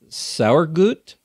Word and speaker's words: Sauergut: Am I pronouncing right? S-A-U-E-R-G-U-T? For me, it's correct, yeah. And I think I can speak German sometimes. Not really. How close did I come? We speak Bavarian. Sauergut, yeah, of course.